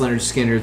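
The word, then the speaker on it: Lynyrd Skynyrd: He most famously co-wrote Sweet Home Alabama, but he was on their first 3 albums, pronounced Leonard Skinner, Second Helping, and Nothing Fancy.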